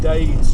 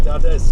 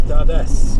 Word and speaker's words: Dades: far we' we've actually we keep calling it D Gorge but we we've actually looked at the pronunciation for it and it's actually dades Gorge so it's dades Gorge that is Gorge uh these call it